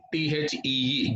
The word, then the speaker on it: the: to pronounce THE as THEE, the. Similarly, if the word THE occurs or if it happens to be before a word beginning with a consonant sound, we have to pronounce it like the.